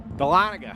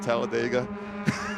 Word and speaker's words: Dahlonega: Dahlonega. That's right, not Talladega. Or Dahlonega, for that matter. From down Georgia way. That's spelled J-O-R-J-U-H, I think is how you do it.